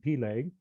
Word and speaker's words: Peleg: But also, his first name was either Peleg, as some pronounce it, or Peleg, as you hear it in some areas, or just different emphasis on the syllables in the way that it's pronounced.